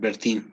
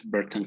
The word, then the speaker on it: Burton: are surrounded by so you have to respect how this name is pronounced in and it is berten okay burton column yes it's not bertin as some people might have read it's burton column but it's in english